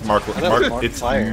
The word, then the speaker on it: Markiplier: Is this how you say his name, Markiplier? It's Markiplier.